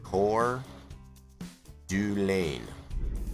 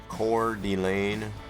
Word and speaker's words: Coeur d'Alene: Coeur d'Alene.